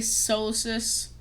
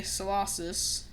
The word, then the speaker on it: Solosis: I used to say solus but I now say solosis or solusis.